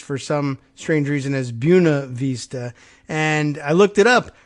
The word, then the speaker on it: Buena Vista: possible exception of a Virginian would read as Buena Vista because that's how it's pronounced in Spanish or or nearly how it